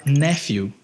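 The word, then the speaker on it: nephew: nos Estados Unidos e ao invés de falar néfio que é sobrinho eu disse nepom que é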